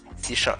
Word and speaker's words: C#: C hashtag. C#. Okay, it's C#.